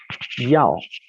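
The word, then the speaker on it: 要: Entonces es yao, Y-A-O, con el tono hacia abajo.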